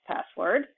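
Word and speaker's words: passwd: group and pas swd sometimes just pronounced password but just make sure that the spelling is pas FWD you can see that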